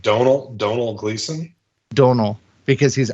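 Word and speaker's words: Domhnall: Brugge so it says his name is pronounced like tonal but with a d Donal like Donal Donal Gleason Donal because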